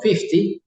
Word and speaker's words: fifty: Team es las 4:15 hay que tener cuidado cuando digo Fifty es cortito la pronunciación es 50 y fisting larguito tinte